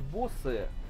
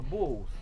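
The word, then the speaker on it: Bose: Кстати, правильно говорить, не боссы, а боус.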